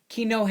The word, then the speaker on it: quinoa: e is one and Kino is q u i n o a so kale and quinoa it's Kino and kahale will you